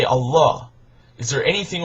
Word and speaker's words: Allah: And in Arabic it's pronounced Allah, that it means God, no different.